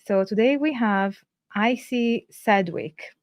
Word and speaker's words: Sedgwick: today we have icy Sedwick have I pronounced your surname correctly it's edgewick but I know that that's obviously depends whether you've got that collection of letters or not yeah so thank you